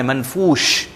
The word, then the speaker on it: منفوش: یہاں پر ایک تو عہن عین کو انڈرلائن کر لیں, ہم اہن کہتے ہیں عہن کالعہن, اور منفوش شین باقاعدہ پرومیننٹ ہم نے کرنا ہے منفوش.